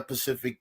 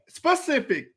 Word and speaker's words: specific: time he brought up it's not pacific it's the word is not this is really frustrating me the word is not pacific mari what's the word what's the word how do you say it specific why is he saying